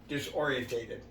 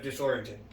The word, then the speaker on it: disoriented: it right the one i always get wrong i always always say wrong because i had too many syllables i said i say disorientated yeah instead of disoriented i always say disorientated